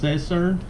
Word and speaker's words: Sesern: cameras reached out through I believe it's pronounced scizor scizor and scissors however you pronounce it so reached out through